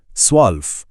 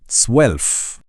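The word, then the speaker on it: zwölf: स्वल्प। यहां भी वही वी वाला साउंड है। स्वेल्फ।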